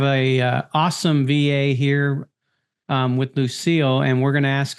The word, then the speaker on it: Lucille: Is it you pronounce it Lucille, right?